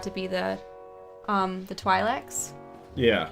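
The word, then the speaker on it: Twi'lek: be the um the Twilights yeah or twilek I suppose that's how it's actually pronounced I always like the sound of TWY more than Twee yeah Tweety sounds weird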